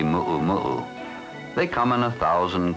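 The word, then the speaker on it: muumuu: momu for your sister visitors say Mumu but it's spelled with four U's and the natives say muo muu they come in a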